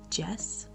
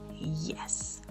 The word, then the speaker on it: yes: Think of it more like an I Latina than an Y. Maybe this will help. And try practicing again. Instead of saying yes, say yes.